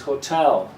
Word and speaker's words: hotel: word correct pronunciation is Hotel the second syllable is the strong one so this little vertical